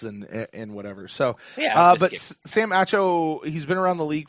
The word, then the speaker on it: Acho: Sam Acho? I don't even know how to say this guy's name. Acho Mama. Yeah. It's Nacho without an N.